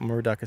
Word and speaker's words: Moorooduc: murua state and you spell that m r o d estate just think of a cow and a kangaroo and a duck and run it together estate com.au um I